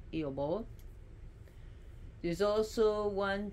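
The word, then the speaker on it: Aoibheall: It's spelled totally different, but it's pronounced Iobol.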